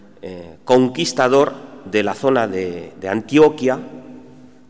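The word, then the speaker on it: Antioquia: Es el gran conquistador de la zona de Antioquía, que es como se pronuncia, diré Antioquía, pero es Antioquía, y de las zonas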